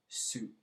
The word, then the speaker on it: syg: So, jeg bekymret for, comma, at, that, min mor syg.